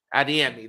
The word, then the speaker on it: Adeyemi: with uh a demand is that how you pronounce his name it's adeyemi adiemi there you go thank you you know I